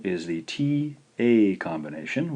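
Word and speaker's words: た: This first syllable is the T-A combination. We'll romanize this as ta, ta.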